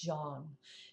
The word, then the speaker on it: Zhang: Jeang and his colleagues. Now, this researcher's name is spelled Z H A N G, but it's pronounced Jeang. Jeang and his colleagues recently found that two rare